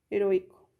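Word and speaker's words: héroïque: Y tenemos también como ejemplo la palabra heroico, que se pronuncia como heroic. Esto va a permitir, estas diéresis van a permitir que, por ejemplo, aquí si no tuviera las diéresis, lo tendríamos que pronunciar como si fuera una U con una A. Sin embargo, como están las diéresis, eso va a separar las vocales y va a permitir que nosotros los pronunciemos separados.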